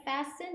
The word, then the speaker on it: fasten: 때 안전벨트 착용하세요 용어로는 fasten your seat belt Fast your seat belt 이렇게 얘기합니다 F 할 때도 t 발음이 안나요 그래서 f 이렇게 발음하시면 됩니다는 잠그다 뭔가를 단단히 채우다 이런